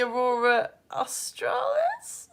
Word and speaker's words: aurora australis: In the south, it's called the aurora australis. That's how you pronounce it.